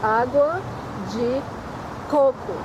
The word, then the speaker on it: água de coco: Água de coco. You have to put the emphasis on the first coco. Because água de coco is what, shit water. Poop water, yeah.